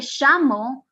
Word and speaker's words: llamo: It was more complicated to pronounce the double L than to pronounce it everything with a Y.